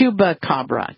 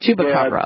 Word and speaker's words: chupacabra: do you say it chba CRA it's a chuba Cabra chuba Cabra okay some people say it's like a hyena